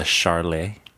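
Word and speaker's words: Sharlie: hazy ipa that has the it's called the charlay the spell it s-h-a-r-i-l-i-e and it's the loch ness monster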